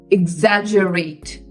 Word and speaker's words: exaggerate: IG Za IG Za exaggerate so if you see it's g e g e is not g it is J exagerate EX exaggerate exaggerate